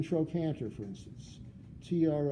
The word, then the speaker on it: trochanter: hae and in latin the CH to stand for a K sound as in trochanter for instance TR o